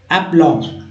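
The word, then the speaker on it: aplomb: एप्लॉम, एप्लॉम, एप्लॉम। ठीक है, तो एप्लॉम पढ़ेंगे, इसे ब नहीं पढ़ना है, एप्लॉम।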